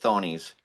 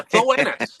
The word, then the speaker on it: Thoennis: Or I would pronounce it Thonies. Tony's, yeah, Thoennis. But Thoennis.